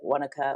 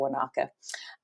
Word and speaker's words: Wanaka: in a place called Wanaka. So it's next to this big, beautiful lake called Lake Wanaka. Some people pronounce it Wanaka or Wanaka.